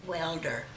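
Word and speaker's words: Waelder: And then we moved to Welder, and it's spelled W-A-E-L-D-E-R.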